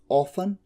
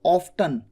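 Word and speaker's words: often: इसे हाउ ऑफन और ऑफ्टन दोनों तरीके से बोला जाता है। जहां तक मुझे अच्छे से ध्यान आता है, ऑफन बोला जाता है US में, अमेरिकन प्रोनाउंसिएशन, और ऑफ्टन कहा जाता है UK में, ठीक है।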